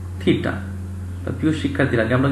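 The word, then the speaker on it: theta: আমরা চিহ্ন প্রকাশ করছি ইংলিশ এবং বাংলায় লিখেছি থিটা, উচ্চারণটা হয় মূলত কি থিটা।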